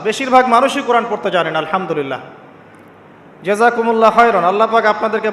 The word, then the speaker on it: আলহামদুলিল্লাহ: আলহামদুলিল্লাহ। এই হা এর মাখরাজ কোথায়? হা এর মাখরাজ কোথায়? বলেন একজন কন্ঠনালীর মাঝখান থেকে এখান থেকে আপনি উচ্চারণ করছেন আলহামদুলিল্লাহি রাব্বিল আলামিন অর্থ